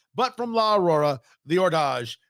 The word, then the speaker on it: Hors D'Age: but from La Aurora the Ordage. H O R S D Apostrophe A G- E. I wasn't pronouncing it right at first, but we got it figured out.